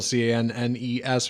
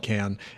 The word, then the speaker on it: Cannes: of can you might have thought it's like con film festival c nees which is how I pronounced it for years including on this show